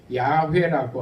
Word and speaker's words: 야훼: 오늘날의 더 정확한 히브리 원어의 발음으로는 야훼라고 합니다.